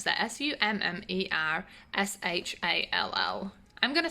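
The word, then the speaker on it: Summershall: of summers hall so michelle how do you pronounce that s-u-m-m-e-r-s-h-a-l-l i'm gonna say summers hall because i like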